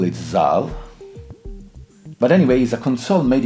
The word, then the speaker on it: Zahl: is the cell am one I think the pronunciation itself uh I always call it zal but anyways a console made in Germany aimed